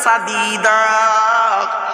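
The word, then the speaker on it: سديد: উচ্চারণে পার্থক্য, মানেও পার্থক্য।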